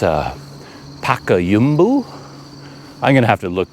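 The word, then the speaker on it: Payakumbuh: name of this town the town is called payakumba people say it with a different Rhythm I can never get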